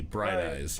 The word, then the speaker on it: Bright Eyes: I just played the Bright Eyes song, and you say it like Fridays, but with a B. Bright Eyes.